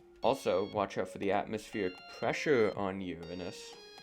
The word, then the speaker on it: Uranus: Now moving on to Uranus, which is the planet with the funny name, but sadly, it's pronounced Uranus and not Uranus.